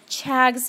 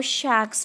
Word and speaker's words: Chagas: is responsible for causing chags disease or Shacks disease there are two pronunciations for the name of this disease you can go with the one you like I would like to call it chags disease here in the